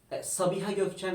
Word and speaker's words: Sabiha Gökçen: the most popular airport still Can because you pronounce it for me? Sabiha Gökçen Airport. Yes, I was going to say that, but I didn't know how to. Sabiha Gökçen Airport.